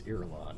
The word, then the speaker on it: Irulan: Yeah, how do we I pronounce believe it's Irulan.